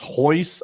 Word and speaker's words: Royce: There was the word spelled Royce pronounced Hoyce.